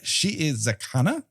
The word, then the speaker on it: Shiizakana: nine of Hannibal uh she is zakana uh there's two eyes there and so each should be pronounced as its own section that's the one thing